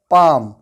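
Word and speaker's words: palm: हमारे पास दूसरा एग्जाम्पल है पाम। इस वर्ड को मैंने पाल्म नहीं पढ़ा है, क्योंकि इस वर्ड में ए के बाद एल आया है। जब ए के बाद एल आता है तो एल साइलेंट होता है, उसको नहीं पढ़ा जाता है।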